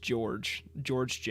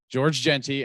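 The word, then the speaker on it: Georges Jeanty: I've heard, the problem is I've heard multiple ways to say his name from people that know him personally, and I believe it's just George Genty. Okay. George Genty and Ario Anadito.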